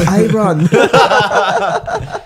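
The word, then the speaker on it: Aaron: do I everything iron my name is iron it's spelled a a r o n pronounce i my man a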